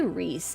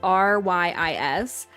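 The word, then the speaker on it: Ryis: I say Reese in my brain, but I feel like that's not right. It's Rys.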